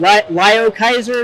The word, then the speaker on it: Liokaiser: So you're coming out with Devastator and Lio Kaiser, is how you pronounce it?